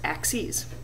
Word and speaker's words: axes: the y axis together the plural of axis is axes which looks like axis but it's pronounced axes the two axes have now divvied our